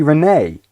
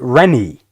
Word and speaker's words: Renee: Apparently, Renee complains that people mispronounce her name, so it's not supposed to be Renee. It's supposed to be Rennie.